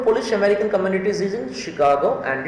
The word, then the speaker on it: Chicago: of this word is chicago remember chicago okay she sh um the spelling is ch but pronunciation is sh shi shi chicago one